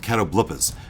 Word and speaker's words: catoblepas: That is the way they pronounce it, catoblepas.